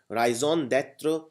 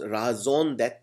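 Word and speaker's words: raison: word other is Ryon it's a French word and a beautiful word Ryon it's also pronounce raon uh it means the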